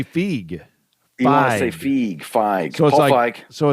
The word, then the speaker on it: Feig: It is Paul Feig. Paul Feig. Paul Feig. Yes. Feig. Paul Feig. You want to say fig? You want to say feig? You want to say feig? Feig. So Paul Feig.